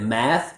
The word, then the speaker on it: math: So you might want to be careful if you ever ask someone, are you good at math? Make sure that you're using the ah like bat vowel.